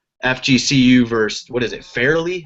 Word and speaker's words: Fairleigh: versus, what is it, Fairleigh? How do you say that? Fairleigh? I don't even know. I don't even know what you're out in the Northeast Conference. You're talking about Far Lehigh. Farley, yeah, Dickinson.